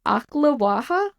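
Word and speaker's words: Ocklawaha: what did you say it's akaha if I'm pronouncing it correctly I'm doing my best o c k l a w a h a um and if you're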